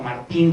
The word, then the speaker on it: Martin: Tenemos la de Lutero al alemán, tenemos después posteriormente la de Martin, o Martín se escribe, pero Martin se pronuncia, al francés, la de Diodati al italiano, la de Almeida al portugués.